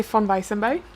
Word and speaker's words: Von Weissenberg: I would say Von Weissenberg. Okay. Okay. It's harder. Do you want to try it again? Von Weissenberg? It's not Von, Von, it's it's Von. Von.